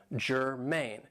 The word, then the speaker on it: germane: Now this is 2 syllables and the stress is on the second syllable, germane.